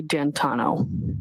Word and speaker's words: D'Antuono: And when you went outside, you learned that he had come and his friend, is it Ricky D'Antuono? How do you pronounce the name? It's Ricky D'Antano.